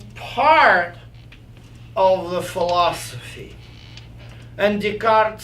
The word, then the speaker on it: Descartes: Without Descartes, is this how we pronounce him? Descartes, yeah.